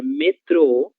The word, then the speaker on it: metrô: Temos então metro e metrô, mas a palavra que eu quero que vocês observem é a palavra metrô, que ela possui o acento gráfico e tem como sílaba tônica a sílaba tro, ok?